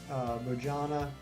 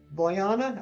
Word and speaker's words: Bojana: With a hard J or with a Y? Ah, easy sauce. Boyana? Okay, you got it, Boyana.